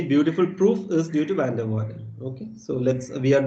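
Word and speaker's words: van der Waerden: far f i think this v is pronounced like f so it's van der waals but having said that i might again say van der vaarden because that's easier for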